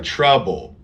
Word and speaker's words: trouble: magic let's me travel can you tell the difference between these words can you hear the difference travel sorry trouble trouble okay good because this is a hard difference here we have ah